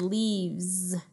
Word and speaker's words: leaves: no too much work look at this word leaves that word ends with an S the letter s but we say it like a Z that means we turn